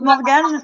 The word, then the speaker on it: Morgan: Ça se prononce Morgane, mais ça s'écrit Morgan.